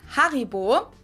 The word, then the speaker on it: Haribo: We pronounce it Haribo. Haribo. Haribo.